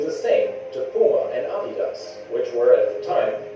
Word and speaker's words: Adidas: shoes could do the same to Puma and Adidas, which were at the time extremely popular in America.